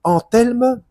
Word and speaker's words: Anthelme: le cas de Nisier Anthelme Philippe 10 maître Philippe de Lyon. Alors, c'est Entelme ou Enelme, je sais pas comment est-ceil faut le prononcer. C'est euh anthelme th.